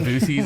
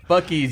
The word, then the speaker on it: Buc-ee's: Jordan called it Boosies. Like, my wife called this place from Boosies. I'm like, it's Buc-ee's, you dumb. I mean, There's like a squirrel or something. phonetically though, like Jordan. in English language, if there wasn't an apostrophe, it would be Boosies. Yeah, but you hit you the know. road, everyone knows it's Buc-ee's.